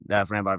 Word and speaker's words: Framber: And it sucks because Framber Valdez, not Fran, yeah, Framber Valdez.